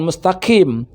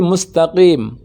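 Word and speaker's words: مستقيم: Untuk huruf qaf berada pada pangkal lisan yang paling bawah, paling dalam. Qaqiqu, sehingga tidak terdengar bunyi pecah. Bukan mustaqim, tapi mustaqim.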